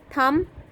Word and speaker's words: thumb: Thumb, B is silent.